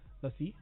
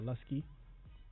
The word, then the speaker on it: Luscii: Lussi or Lusky, whichever one you prefer.